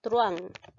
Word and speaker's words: truhán: la de te cuenta que la h no se pronuncia por lo tanto no